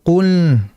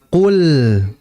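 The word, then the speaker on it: قُل: Nah, lam ini dia makhrajnya atau pengucapannya ini bukan lewat hidung, melainkan lewat lidah. Maka jangan baca qul. Kalau qul itu ada unsur hidung, maka dihilangkan hidungnya menjadi qul.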